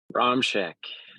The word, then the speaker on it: Romshek: And say your last name for me. Romshek. Romshek. I didn't want to Yeah, mispronounce it.